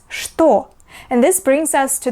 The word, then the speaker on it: что: However, there are some words where this letter is pronounced not as Ch, but as Sh. For example, this word is not что, we read it as что.